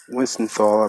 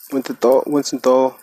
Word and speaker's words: Wiesenthal: of Nazi hunter Simon Wiesenthal, I believe that's how you say it, Wiesenthal, who survived a Nazi